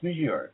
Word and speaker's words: Monsieur: It's Monsieur. Why can't anybody pronounce that right? With Monsieur Ooh-La-La.